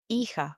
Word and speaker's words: hija: We have another examples like hijo, which means son, hija, which means daughter. They have an H in the beginning. Just imagine it's not there and go straight to pronouncing the second letter of the word.